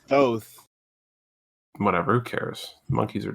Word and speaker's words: Thoth: So, by the way, it's pronounced Thoth.